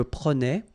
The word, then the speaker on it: prenais: So same thing here, final S not pronounced. Je prenais, tu prenais, il prenait, final T not pronounced.